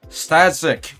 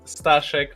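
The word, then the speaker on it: Staszek: F very first thing it's stashek I'm from Poland so uh the pronunciation will get harder if I go with my full name so I'm using sashik which is a short version of my name uh first of all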